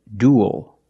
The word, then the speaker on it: duel: The first word is duel. Duel. We see uel making the same sound as before, like pool and cool. Duel. And it ends with a dark L because the L